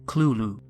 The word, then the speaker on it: Cthulhu: coin this term himself this word is supposed to be a completely non-human word and there's no correct way to pronounce it however lovecraft wrote that the closest pronunciation is clulu unlike most horrific creatures